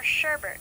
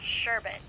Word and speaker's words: sherbet: it as expressive or sherbert with an R even though it's pronounced sherbet 12 green bananas this